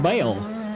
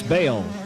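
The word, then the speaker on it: Bayle: Some guys, especially from the South, pronounce it Bale. Mike Bale. It's Bale, and he is on the gas, lapping another rider.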